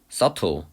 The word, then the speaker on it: subtle: 가장 미묘한 비언어적인 신호에 가장 미묘한이란 뜻이고 우리가 그 발음에 주의해야 되는 그 단어 있죠? subtle. subtle. 맨날 발음하지 말라고 하는 그 단어.